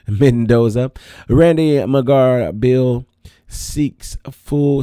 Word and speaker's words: Mendoza: Let me say it correctly because I don't want anybody messing up my name either. Mendoza.